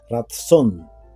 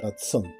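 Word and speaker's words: רצון: Y la palabra para favor en hebreo es ratsón, parecida a la palabra razón, pero es ratón. Sí, así se pronuncia, ratsón.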